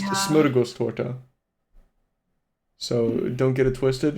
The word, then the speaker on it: Smörgåstårta: And yeah, for the stream it it is pronounced smuros to so don't get it twisted and I hope everybody practices on their own time how to pronounce that name.